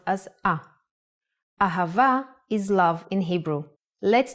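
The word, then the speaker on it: אהבה: Ahava is love in Hebrew. Let's try to write it down. A pronounced ha. Remember the sound here is v. So we don't need a dot of bet pronounce a.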